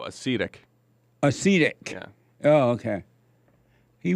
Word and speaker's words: acetic: Before I play that, Hake, he white, is telling us that we pronounced that Simone thing wrong. Uh-oh. Let me see here. Did you see it? He texted to you? Let me see. He said it's UHCEETICK. Oh, acetic.